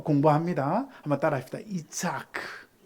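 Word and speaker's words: יצחק: 여러분, 이삭이라는 이름을요, 히브리 원문으로 발음을 해보면 이츠아크입니다. 우리 주님이 세우시는 교회는 수준이 높은 교회니까 히브리 헬라어를 또 공부합니다. 한번 따라합시다. 이츠아크.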